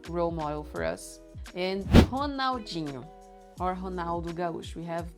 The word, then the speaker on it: Ronaldinho: And Ronaldinho, or Ronaldo Gaúcho. We have both. The R in the beginning of words with a vowel right after sounds like H. Ronaldo, Ronaldinho.